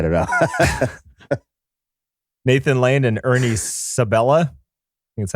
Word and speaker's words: Ernie Sabella: that's funny i don't know nathan lane and ernie sabella that's how you say his name timon and